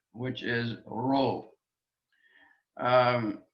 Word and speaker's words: rho: which is ro um it's not uh like a spanish but neither is it an english american r it's um an aspirated r uh hero we call it in greek a hard breathing it's this is not p it looks like an english p but it's an r sound rho rho written in english r h o row now next letter is